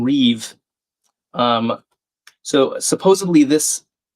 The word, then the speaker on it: rive: So Victor's saying Reeve.